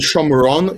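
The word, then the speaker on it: שומרון: I think it was Yehuda. Yehuda and Shomron is the pronunciation I studied. Yehudim, that's the people. Ivrim as Hebrews. And then eventually it got anglicized because they can't pronounce it or something like that.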